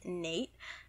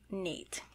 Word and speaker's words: Neight: as a dragonborn character his name is nate but it is spelled n-e-i-g-h-t nate and he is so he's